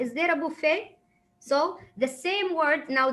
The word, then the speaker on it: buffet: will say for example it has t at the end but they will never pronounce the t so buffet ballet so they they